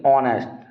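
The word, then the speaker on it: honest: sound इसकी क्या है इसे नेस्ट नहीं पढ़ेंगे ऑनेस्ट ऑ नेस्ट क्या पढ़ेंगे एक तो एच तो कंसोनेंट हो गया लेकिन इसको जब प्रोनाउंस करेंगे तो आ ऑ नेस्ट ऑनेस्ट ऑनेस्ट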